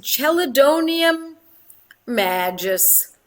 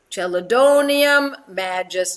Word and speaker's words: Chelidonium majus: Banerjee for those years, and that is Chelidonium magis. Chelidonium magis. Chelidonium, Chelidonium. Magis is spelled Majus, and I love this medicine in a 6.